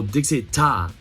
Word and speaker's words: Daechwita: So Daechwita, is that right? That's the right pronunciation.